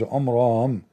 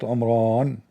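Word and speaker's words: Imran: In fact by the way it's not even Omran. He could not even pronounce the word correctly. It is Omram not Omran.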